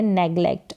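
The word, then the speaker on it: neglect: करना तो नेगलेक्ट करना नेगलेक्ट जी का उच्चारण यहां पर ग करके है नेगलेक्ट अनुमति देना अलाव करना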